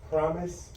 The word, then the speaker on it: PROMIS: So it's Promise Global 10.